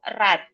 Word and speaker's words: read: cause next the verb the verb read has the same spelling but different pronounciation for the present read but for the past tense we we pronounce red oke the second one